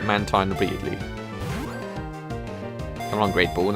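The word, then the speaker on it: Mantyke: a man time all apparently is pronounced man teen I'm going to probably call it man tyne immediately and I'm grateful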